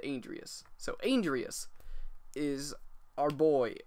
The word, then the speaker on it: Andreas: They said Andreas.